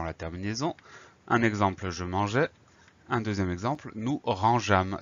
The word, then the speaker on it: mangeais: Un exemple, je mangeais. Un deuxième exemple, nous rangeâmes. Si on oublie le E, ça donne je manguais et nous rangâmes.